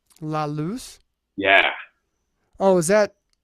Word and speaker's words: La Luz: I wonder if I've been pronounced that wrong. Or like one might pronounce it as La Luz. Yeah, or Lux. It's like Laluz, like the light in Spanish. La Luz.